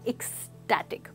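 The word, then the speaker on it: ecstatic: दोस्तों यहाँ पे प्रोनाउंसिएशन पे ध्यान दीजिए, ये है स्टैट, तो यहाँ पे जो साउंड है वो होगी एक्सटैटिक।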